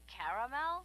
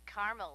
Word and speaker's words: caramel: Oh, the caramel? Yeah, that's what I said, Tina. Actually, you said caramel when it's pronounced caramel.